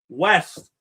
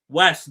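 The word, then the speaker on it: Wejse: It is West, one of the centers of this Denmark team. That is Christian West, W-E-J-S-E. I'm going to go with that pronunciation of his name.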